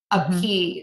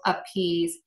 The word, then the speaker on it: appease: So if you see a verb that's spelled with S-E, like arouse, appease, mm-hmm. choose, those are all going to be pronounced with a Z.